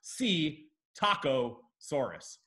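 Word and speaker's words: Psittacosaurus: gotta get three of these to win if see taco Soros that's a dino that is a dino it is spelled psi T T Soros but it's pronounced C taco Soros because always have a look on their face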